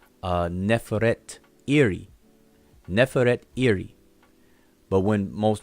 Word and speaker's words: Nefertari: But most people pronounce this person's name as Nefertari. Nefertari. They just say Nefertari. But if you look at the Shinu and see her name is actually Neferet Iri.